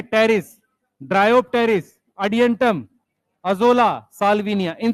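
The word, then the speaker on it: Pteris: देखो कैसे पढ़ रहे हैं, पी साइलेंट है साइलोटम, पी साइलेंट है terrace, ड्रायोप्टेरिस, Adiantum, azolla, Salvinia, इन सबको कहते हैं फर्न।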